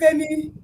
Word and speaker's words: Femi: Good to have you here, Femi. Okay. Nice to see you guys. That's how it's pronounced.